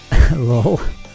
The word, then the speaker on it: LOL: Lol. That was a pretty merciless comeback. You know, like LOL, but pronounced as a word.